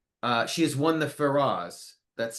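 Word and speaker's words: Feroz: She was nominated once, but she's also a um uh she has won the Ferras, that's spelled F E R O Z, which is the Spanish Emmy.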